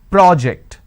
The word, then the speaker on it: project: So when I'm stressing on the first syllable, it becomes a noun. That means, please submit the project. I say project.